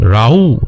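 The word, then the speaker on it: Raúl: রাউ আমি উচ্চারণ করছি, অ্যাকচুয়ালি তাকে রাহুল আমরা যদি বলতে পারি, বাট তিনি একজন মেক্সিকান, এর জন্য তাকে রাউ বলা হয় মেক্সিকোতে, এবং মেক্সিকান নেম অনুযায়ী রাউ উচ্চারণ করা হয়।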